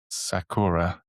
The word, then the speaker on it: Sakura: Is that how it's pronounced? Sakura.